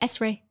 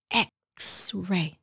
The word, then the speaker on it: X-ray: Chứ không phải là S-ray. X-ray.